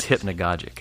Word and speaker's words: hypnagogic: The only, unfortunately, it was at limited time, and so the only research I did was figured out how to pronounce hypnagogic. But it is hypnagogic and hypnagogia.